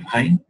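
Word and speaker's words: غين: The ghain originates from the root of the tongue along with the soft palate, like this, right? Ghain, ghain. Notice that the point of pronunciation does not close. Notice, if you notice here, if you look at the place here, you would notice that it does not close in pronouncing the ghain.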